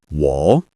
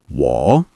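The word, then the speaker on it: 我: The next word is wall meaning I or me. Pronounce it like wall. Keep it low and steady. This is a third tone.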